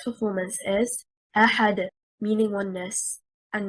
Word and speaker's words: أحد: For example, Allah subhanahu wa ta'ala said in Surah Al-Ikhlas, قُلْ هُوَ اللَّهُ أَحَدٌ. The word أحد, the stress is on harakat al-hamzah because it is stronger.